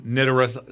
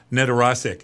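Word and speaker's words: Nedoroscik: Stephen Nedorosik, I think you say his name, Nedorosik.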